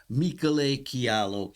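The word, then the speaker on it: Michele Chiarlo: Unfortunately, Michele, the real pronunciation is Michele Chialo.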